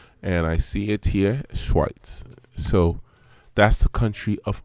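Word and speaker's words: Schweiz: origin is actually Switzerland Switzerland in German is pronounced schweit so I'm going to go s c h w and I see it here schweit so that's the country of origin for for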